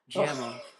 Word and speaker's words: Guillermo: Guillermo del Toro. Guillermo del Toro. There you go. Guillermo. Guillermo. There you go. Oh, you just have to say it in a Spanish accent. Now I got it. Guillermo.